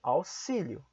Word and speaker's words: auxílio: algumas exceções por exemplo a palavra auxílio é pronunciada como é se Mas porque é uma exceção auxílio em algumas outras exceções